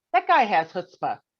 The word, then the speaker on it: chutzpah: first if i may how would you define hutzpah and by the way you pronounce it perfectly you're here you are you